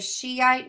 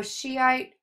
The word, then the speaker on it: Shiite: We have the Shiite Muslims and the Sunni Muslims. Shiite is, English is spelled Shi apostrophe ite, and then Sunni is Sunni.